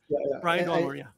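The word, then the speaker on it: Brian Doyle-Murray: Brian Doyle Murray.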